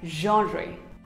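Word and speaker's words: genre: is not gener not even generate it is pronounced as genry so was this video useful for you don't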